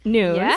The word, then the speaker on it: Nunes: Allison Nunes, pronounced Nunes, as you would get from her profile, is the Director of Global Events and Event Marketing for LinkedIn.